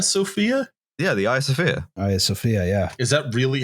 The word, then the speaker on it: Hagia Sophia: Hagia Sophia, yeah. Is that really how you... That's really how you say the Hagia Sophia.